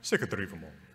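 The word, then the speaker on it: Sigurdrífumál: It does sort of help because all of these words are emphasized on the first syllable, right? Sigurdrivumal. Right, that's 1, 2, 3. This is a five-syllable word.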